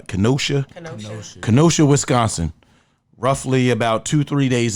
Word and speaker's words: Kenosha: Once again, those of you living under a rock in Wisconsin, I believe the town was, how you pronounce it? Kenosha, Wisconsin.